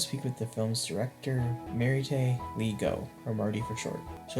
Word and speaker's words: Maritte: yeah, everyone it's pronounced Maritte, but I like Marty better.